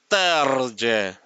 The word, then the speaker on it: Terje: But we double check with Terje and he said the J is pronounced as J. So it's Terje.